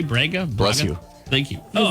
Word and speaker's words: Braga: Let's see if I can pronounce this. Braga, B-R-A-G-A, Braga.